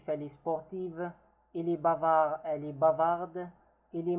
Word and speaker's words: bavard: Bavard. The D is not pronounced in case if it's masculine.